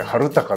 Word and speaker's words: 青空: 青空と書いて春高という、銀座に